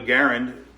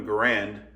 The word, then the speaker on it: Garand: named after him and it should have been called a garand but it was always mispronounced and it just became a grand it was the first